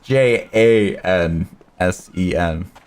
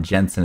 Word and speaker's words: Jansen: It's It's J A N S E N. It's not Jensen. It's Jansen. Jansen.